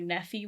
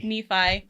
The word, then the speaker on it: Nephi: they would ask him where nephew was and lahai and those are pronounced Nephi and Lehigh that made me think